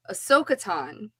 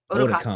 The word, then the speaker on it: Otakon: Then I know at Ahsoka-tan, you guys throw parties there too, right? Did I say it right? Otakon. Otakon. Otakon. I said Ahsoka-tan.